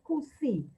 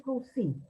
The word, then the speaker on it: Coucy: Se llama Rabbi Moshe de Kusi. Se escribe C-O-U-C-Y, Coucy. Es una pequeña ciudad o un pueblo en Francia, en el sur de Francia. Ahí nació Rabbi Moshe de Kusi.